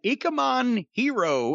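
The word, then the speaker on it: Ikemen Jiro: Well, they did a special feature on Ikemen Hero, and that's spelled Jiro.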